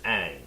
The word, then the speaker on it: Aang: in the show the main character's name is Aang right in the movie they pronounced it wrong yeah and that's all minor